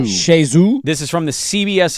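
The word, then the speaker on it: Chez Xue: CHEZ is Shay. Shay. I think it's Shezu. XUE. Zoo. Yeah. So Shezu.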